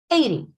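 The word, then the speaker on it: eighty: 80. The two syllables are strong. 80. Not 8.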